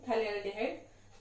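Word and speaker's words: phthalaldehyde: Next है CHO, इसका name है इसका नेम है थैलेल्डिहाइड, पीएच इज साइलेंट है और उसका नेम है थैलेल्डिहाइड।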